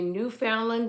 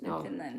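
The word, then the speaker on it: Newfoundland: And when he rescues a New Foundland dog in the middle of New Finland, New Huh? New Finland. It says Foundland. It's pronounced New Finland.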